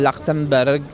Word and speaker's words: Luxembourg: Pia ka banda bag nandito kami ngayon sa tram top ng Luxemburg. Yun daw iyung correct pronunciation.